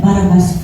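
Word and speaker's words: Barabbas: They shouted, "Crucify, why set Barabas free?" Then I realized that Barabas was that Barabas was us. Barabas is a Arabic or Hebrew name. Bar. Bar means sun. Aba. Ang pag-pronounce kasi diyan baraba.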